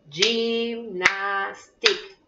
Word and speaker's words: gymnastique: Gymnastique. Trois. Gymnastique. A pesar, en francés se escribe gymnastique, pero no se pronuncia la E final, se pronuncia gymnastique.